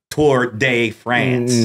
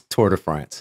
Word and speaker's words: Tour de France: ask you real quick how do you say tour de france or do you say like bob key toward day friends no no it's it's tour de france thank you thank you